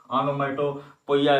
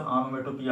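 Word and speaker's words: onomatopoeia: Personification मानवीकरण, oxymoron विरोधाभास, ऑनोमेटोपिया ध्वनि सूचक। इसका प्रोनाउंसिएशन भी आप जानते रहेंगे। नए लोग ऑनोमेटोपोइया ऐसा पढ़ते हैं लेकिन इसका प्रोनाउंसिएशन ऑनोमेटोपिया होता है।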